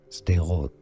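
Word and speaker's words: Sderot: Israeli say it in Israel it's pronounced as stero stero can I say stero stero okay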